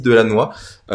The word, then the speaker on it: Delannoy: dans l'émission de ce soir, nous accueillons Delannoy. Si c'est bien comme ça que ça se prononce ou il y a un petit accent du Nord quand même?